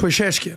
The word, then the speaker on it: Pezeshkian: Pezeshkian.